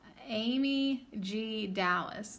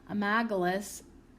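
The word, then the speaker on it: Amygdalus: The botanical name, Amy G. Dallas, that's not how you say it, Amagalus, hails from the Middle East and stems from the ancient Sumerian Amaga, meaning great mother.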